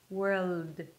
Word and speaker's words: world: just world all right that's not enough you need that extra sound of the dark L that will transition from the r to the L wh and then you bring the tongue up for the L so everything's kind of like Blended together whir then you bring the tongue up and you close it with a D World all right so basically